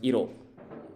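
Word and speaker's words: 色: So the second kanji here on the right is pronounced iro, which means color.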